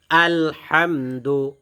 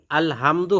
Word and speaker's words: الحمد: بسم الله الرحمن الرحيم আলহামদু, الحمد এটা ছোট হাম, আলহামদু হবে না, আলহামদু الحمد লিল্লাহি لله রব্বিল رب আলামিন।